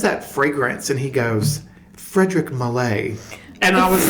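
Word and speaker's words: Frédéric Malle: And he goes, Frederick Mallet. And I was like, girl, I have been calling it, girl, I wear Frederick Mall. Okay? And it's Frederick Mall. And he's like, Frederick Mallet.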